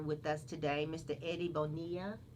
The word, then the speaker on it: Bonilla: Eddie Bonilla. Did I say it right? That's Bonilla. perfect. Who is Eddie Bonilla Sr., who is the vice president of Lennding.